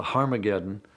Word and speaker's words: Harmageddon: And indeed, in some of the earliest versions of the New Testament, written in Greek, Armageddon has an aspirant at the beginning, meaning it's pronounced with an H.